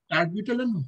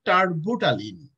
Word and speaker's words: terbutaline: So that's, you can say Arbutalin. It, the pronunciation is T-E-R-B. And also U-T-A-L-I-N-E, Arbutalin.